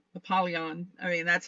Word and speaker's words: Apollyon: It was like I wasn't I mean, it looked, yeah, I focused on the Apollo and then add the Eon, Apollyon.